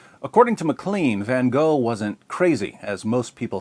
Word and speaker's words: Van Gogh: sanity of Dutch painter Vincent vano or van or van H or van depending on where you're from and how far you want to deviate from the authentic American pronunciation according to Mclean van